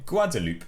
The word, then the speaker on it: Guadeloupe: This is how you say Guadeloupe in French.